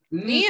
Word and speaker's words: knee: Knee es rodilla. Knee es rodilla. Esta palabra media rara, que no se pronuncia la K no se pronuncia, y la doble S se pronuncia como una I larga.